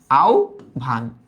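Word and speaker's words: আহ্বান: এই যে আ লিখলাম আ, হ্যাঁ আমরা জানি হয়ের উচ্চারণটা হয়ে যাবে ও এর মতো, তার মানে আও, আও, আর বয়ের উচ্চারণটা হয়ে যাবে ভয়ের মতো, তার মানে আও ভান, আও ভান, বুঝা গেল।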